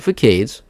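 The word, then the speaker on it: façades: As for things like the terrain textures, cladding and facades, terrain textures, cladding, and facades, there we go, that's the proper way to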